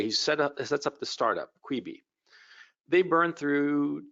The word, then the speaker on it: Quibi: Jeffrey Katzenberg just shut down an operation called Quibi. I think that's how you pronounce it, Q-U-I-B-I.